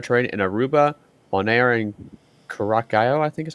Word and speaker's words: Curaçao: I'll help you with that pronunciation, Ethan. Those islands is what they call the ABC Islands. That's Aruba, Bonaire, and Curaçao.